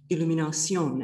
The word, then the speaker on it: Illumination: So I'm going to start from what I mean there by illumination, and you will notice the French pronunciation.